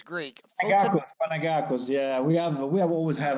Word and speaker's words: Panagakos: Panagakos.